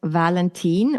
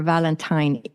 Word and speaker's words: Valentin: little bit yeah so my name is is Valentine or Valentine it can actually be pronounced in two different ways and that's because I was born and raised in Sweden which is in northern